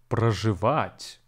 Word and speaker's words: проживать: Today we'll talk about the Russian verb проживать, which stands for the English to live. Проживать has three syllables, про, which is actually pronounced as pra, жи, and вать. The stress falls on the last syllable.